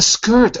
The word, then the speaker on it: skirt: Of the skirt. Oh, of the skirt. Skirt. A Oh skirt. yeah. Yeah. Okay, I didn't understand the word. Skirt, like bird.